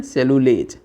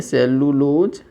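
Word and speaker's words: cellulase: तो यहाँ पे लिख सकते हैं सेलुलोज is digested by the enzymes called, कोई तुमसे पूछ ले तो क्या बोलेंगे, सेलुलेज। थोड़ा सा स्पेलिंग में अंतर है, LOS लोज की जगह लेज हो जाएगा, ठीक है।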